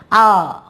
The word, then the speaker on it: hour: For example, you see here an, H-O-U-R, it is not hour. H is silent here. Hour.